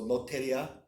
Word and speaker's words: Lotteria: So it's spelled like lottery, but Ria. So Loteria.